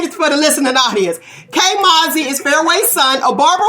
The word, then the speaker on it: K Mauzy: All right, we're gonna bring in K Mauzy. Am I pronouncing it right? Yes, K Mauzy.